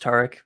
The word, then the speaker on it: Tarik: be here and um your name is pronounced tariq for the record i'm not mispronouncing it no you're one of the few people who actually pronounce it correctly lots of people say tariq or tarik or something like that and i always